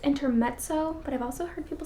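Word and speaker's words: Intermezzo: Next up, I have I believe it's pronounced intermetso, but I've also heard people say inter messo. I think it's intermetzo. You know that Italian t from the z sound.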